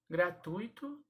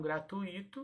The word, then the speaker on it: gratuito: ruim oxítona a sílaba tônica é então se pronuncia desta maneira pública paroxítona ah e não pública é gratuito e não gratuito o avaro e não álvaro ok então são